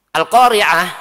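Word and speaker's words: القارعة: Al-Qari'ah, surat Al-Qari'ah pakai ain, Al-Qari'ah artinya adalah hari kiamat. Lah kalau di hurufnya salah membacanya, maka salah juga dalam menafsirkannya. menjadi al-qari'ah. Al-qari'ah artinya apa? Pembaca.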